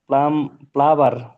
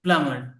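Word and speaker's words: plumber: আবার বলেন স্যার প্লাবার এখানে আচ্ছা এম আর বি এর উচ্চারণ হবে না এখানে হচ্ছে বি এর উচ্চারণ হবে না এম এর উচ্চারণ হবে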